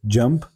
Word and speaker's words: JMP: how we can download jump software in our laptop or desktop so let's start jump software is also known as JM software we pronounce this as jump and uh let's see